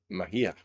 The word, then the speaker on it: Mejia: Mejia.